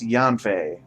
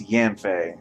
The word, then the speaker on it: Yanfei: Okay, so from her spelling, I would have thought it's pronounced Yanfei, but apparently it's Yanfei.